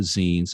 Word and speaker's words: zine: we can clearly agree upon in regards to zines and what they are and how they're represented is the proper pronunciation is zine um and if there if